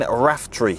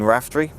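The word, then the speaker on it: Raftry: I think it's Wayne Raftree. I think that's how you pronounce it. R-A-F-T-R-Y. Wayne Raftree.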